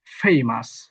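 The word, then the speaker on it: famous: 35 এ বলা হয়েছে শব্দের শেষে ও ইউ এস বসলে তা আসের মত উচ্চারিত হয় দেখেন শব্দের শেষে কিন্তু ও ইউএস বসেছে তার মানে এই অংশটা আসের মত হবে ফেমাস ডেলিশাস ফ্রেশস ডেঞ্জারাস।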